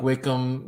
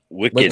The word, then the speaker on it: Wiccan: Yeah, well, like Wickham. What is it? Wickham? Is I saying it right? Wickham? No. Wicked? Wake up. No. Wiccan.